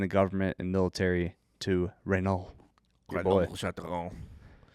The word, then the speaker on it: Renaud: That's the correct way to pronounce it, by the way, if you want to know how to pronounce Renault. French. You just say half. You only say half the consonants and vowels, and you only say half the consonants. You barely say the vowels, and just act